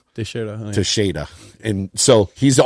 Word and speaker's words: Teixeira: But it's Teixeira.